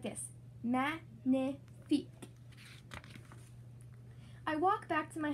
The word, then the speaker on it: magnifique: You say it like this, magnifique.